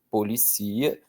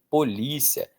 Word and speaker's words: polícia: E aí o acento determina a pronúncia. Ó, gerencia. Gercia. Policia, polícia, alicia, alícia, delicia, delícia.